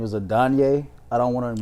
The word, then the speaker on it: Adonai: I think his first name is Adonye. I don't want to mispronounce it. Oh, no, Adonai Mitchell. How do you say it? Adonai Mitchell.